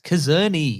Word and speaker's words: Czerny: Mission Impossible 1 cast, because I can't spell that because you didn't say it right. It's Czerny.